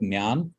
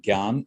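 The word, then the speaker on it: ज्ञान: Some call it Jnana with the na, and some call it Gyan.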